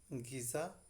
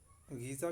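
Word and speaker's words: غذا: तो उनको गलती से मैंने गीज़ा को गज़ा और जो सुबहान अल्लाह था उसको सुजान अल्लाह प्रोनाउंस कर दिया था। तो इन दोनों को आप ठीक कर लें, क्योंकि असल में जो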